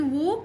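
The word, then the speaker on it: walk: طيب يمشي الى المدرسه خلي بالك ان وك ال سايلنت ما تنطقها وك تو سكول واك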